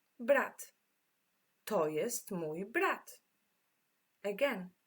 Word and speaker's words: brat: Brat. To pronounce it is literally the same. Brat.